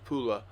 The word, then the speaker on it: Pula: the city of pola which is now in croatia and pronounced pula she was a zara